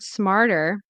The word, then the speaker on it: smarter: I struggle with the word smarter. Smarter. Basically, the transition from R to T. Smarter. I think we I think it's a flap T.